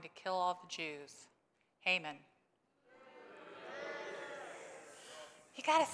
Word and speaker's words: Haman: Haman.